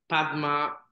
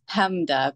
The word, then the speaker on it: Pamda: And let me introduce you to Padma. Am I pronouncing your name properly? It's PAMDA, PAMDA, and that's my nickname.